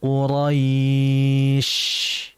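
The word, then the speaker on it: قريش: Sehingga dijelaskan syin liilafi quraisy. Biarkan dia mengalir dan mengalirnya dia sesuai dengan makhrajnya yang ada yaitu makhrajnya di tengah. tengah lidah. Jangan kita membacanya dengan kedua bibir. Quraisy bukan husy tapi Quraisy.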